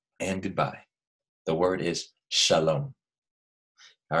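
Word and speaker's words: שלום: to say hello and goodbye the word is Shalom all right I'm going to write it on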